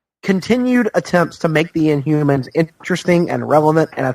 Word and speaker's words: Inhumans: Excuse me, but it's pronounced Inhumans.